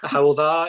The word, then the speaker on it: Hywel: He's also Honorary Professor at Aberystwyth University, and he's Director on the Hywel University Health Board. I hope I've pronounced that right. Have I, Leighton? Hywel, yeah, that's close enough. Thanks.